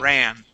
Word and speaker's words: ran: run okay fast yeah so it's r a long a or it's a it's that what I call the American whiny a sound R okay great ran okay okay um much